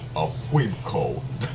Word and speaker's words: Funko: Oh, Oh, so Funko is actually pronounced Funko.